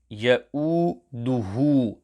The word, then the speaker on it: يَؤُودُهُ: يَؤُودُهُ. Ha must be sufficiently lengthened due to dhammah maqlubah, upside down dhammah.